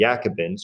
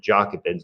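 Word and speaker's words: Jacobins: like maximilian robespierre from the yakibens or the jockey bends depending on your pronunciation wanted to put in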